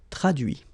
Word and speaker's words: traduit: Okay, so the same rule because, well, basically it's the same group and then same rule, final T not pronounced, so introduit, produit, réduit, séduit, traduit.